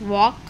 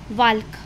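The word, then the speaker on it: walk: क्या हो जाएगी साइलेंट जैसे एग्जांपल है हमारे पास वॉक यहां पर देखो एल के बाद के है तो एल क्या हो जाएगा साइलेंट अगर हम साइलेंट नहीं लेंगे तो हम इसको क्या रीड करेंगे वाल्क तो वाल्क हमने प्रोनंसिएशन क्या किया प्रोनंसिएशन गलत किया तो यहां पर एल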